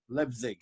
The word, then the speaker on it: Leipzig: Leipzig.